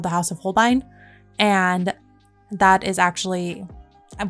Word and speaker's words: Holbein: personal preference and those are I guess it's pronounced Holbein okay funny story so I would always frame this at home bane but then I was actually my friend introduced